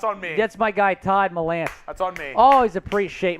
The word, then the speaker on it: Melanson: Will pronounces my name correctly. Give Chugs a lesson, Will. What is it? Todd Melanson. Oh, okay. Todd Melanson. I think I said Todd Mellinson. Todd Melanson. Todd Melanson. Okay.